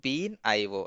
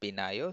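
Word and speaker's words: BeanIO: The jar name is bean IO not binio.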